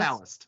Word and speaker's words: Palast: Palast. Yeah. Yes. Like it's Palast, but it sounds like an EST.